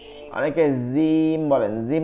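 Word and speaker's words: جيم: হবে না সা জিম জিহ্বার মধ্যভাগটা জিহ্বার মধ্যভাগ তালুর সাথে লাগায়া জিব্বার মধ্যভাগ তালুর সাথে লাগাইতে হবে উপরের যে তালু মধ্যখানটা তালুতে লাগাইতে অন্তরজর যারা পড়ছি আমরা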